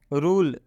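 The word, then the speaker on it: rule: रूल, रूल आप देख सकते हैं, रूल में भी ई अंत में आया है इसलिए ई का उच्चारण हम लोग नहीं करेंगे। रूल मतलब नियम, यहाँ पे स्पष्ट लिखा गया है ई अंत में है इसलिए ई का उच्चारण नहीं होगा।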